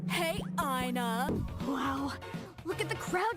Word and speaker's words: ENA: Hey, Ina. Wow, look at the crowd today, Ina. But considering how another character pronounces her name this way as well, we consider this is a canon pronunciation.